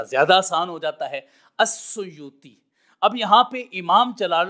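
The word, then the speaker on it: السيوطي: یہی تلفظ بتایا ہے۔ اب جو اصل لفظ ہے اس کا وہ سامنے آ گیا الاسیوطی، لیکن اس کی تخفیف پہ کرتے ہیں تاکہ اس کو پڑھنا آسان ہو جائے، یا بعض لوگوں نے تلفظ یہ بولا ہے السیوطی۔ اب جب ہم السیوطی پڑھیں گے تو جو الف کا ضمہ تھا وہ سین پر آ جائے گا، سیوطی آ جائے گا،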